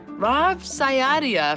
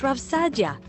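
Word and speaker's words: Rav Saadia: with meaning and purpose rav sayaria for example it's pronounced rav sadia got it thanks published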